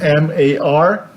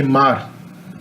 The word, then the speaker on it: mar: So people say the word for C, which is M-A-R, I would say mar. Okay, the R would be in the tongue, mar.